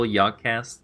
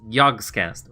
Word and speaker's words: Yogscast: KT, is it still Yogcast to some degree? Like, people there are still Yogcast fans? Yogcats? Yogcats! Yogscast. Oh, yeah, I can't pronounce that S.